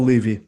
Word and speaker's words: Levy: It does, and you've had some really impressive guests on there, especially Levy. Is that how you pronounce his last name? Paul Levy, yeah.